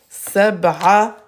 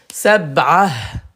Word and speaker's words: سبعة: Sab'ah. Sab'ah. Sab'atun. Sab'ah. On s'arrête pas, c'est pas sab'a. Non, il faut prononcer le sab'ah.